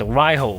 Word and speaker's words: Raidho: to your own speakers I just found out Raid-ho in Danish it is pronounced "Ride-ho" the soundstage is really